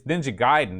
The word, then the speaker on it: Ninja Gaiden: then what's it supposed to be ninja it's ninja gaiden is the correct pronunciation really ninja yeah we never wanted to